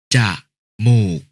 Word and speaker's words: จมูก: กนก อ่าน ว่า กะนก จมูก อ่าน ว่า จะ หมูก จริต อ่าน ว่า จริต